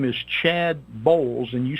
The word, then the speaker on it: Boles: find it number one your name is Chad Bowles and you spell that bol es the title is blinded authority